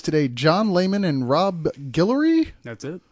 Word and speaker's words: Guillory: We've got with us today John Layman and Rob Guillory. That's it. Guillory.